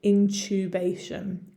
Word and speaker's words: intubation: with my british accent my english accent i would pronounce the next word intubation intubation so the same sound that i use in the word tuesday intubation if i was from the united states it would be intubate